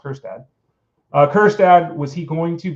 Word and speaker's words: Kjerstad: Was Heston Kjerstad, who, by the way, is Kjerstad, but it's pronounced Kjerstad.